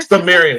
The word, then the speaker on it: Cimmerian: we have and I asked how to pronounce his name, and then I just completely Cimmerian, Cimarron, Sumerian? I'm Cimmerian.